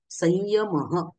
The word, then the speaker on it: संयम: अनुस्वाराच्या जागेवर करायचा आहे उदाहरण बघा य हा वर्ण अनुस्वाराच्या पुढे आला असता अनुस्वाराचे उच्चारण य सारखे केले जाते आणि उदाहरण म्हणून कंसामध्ये पुढे एक शब्द दिलेला आहे संयम संयम बरोबर सगळेजण आपण संयमच म्हणतो का कारण की या चे उच्चारण स्थान काय आहे बघा आता उच्चारण स्थानाची